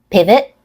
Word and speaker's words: pivot: and a true tea pivot pivot pivot pivot pivot has stress on the first syllable pivot has more length a clear vowel sound on the first syllable and a reduced second syllable in pivot the letter